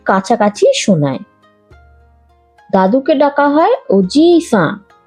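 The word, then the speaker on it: おじいさん: দাদুকে ডাকা হয় ওজি-সান ওজি-সান। দিদা হলেন ওবা-সান ওবা-সান। দাদু দিদার ক্ষেত্রে জি আর বা দীর্ঘ উচ্চারণ হবে, বলার সময় খেয়াল রাখবেন।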